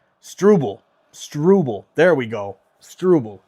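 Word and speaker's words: Struble: Montreal takes it over and stubble. Strubel. Strubel. There we go. Strubble. Just needed to hear it pronounced there on the screen.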